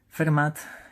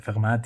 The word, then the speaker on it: Fermat: Es aquí cuando entran en juego, y aparecerán más tarde, Fermat y Descartes. Bueno, por supuesto la pronunciación la hago a la española. Será seguramente Fermat y Descartes.